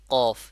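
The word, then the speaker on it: ق: হরফটির নাম ছিল কি কফ এটি কোথা থেকে উচ্চারণ হচ্ছিল আমরা বলেছিলাম জিহ্বার গোড়া উপরে যে তালু আছে জিহ্বার গোড়া উপরে যে নরম তালুটা আছে সেখানে লেগে কি উচ্চারণ হবে কফ উচ্চারণ হবে যেমন কফ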